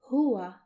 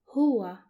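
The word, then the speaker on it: هو: The first pronoun for this lesson will be he and he is, which is pronounced in Arabic as huwa, huwa, and it's written like this.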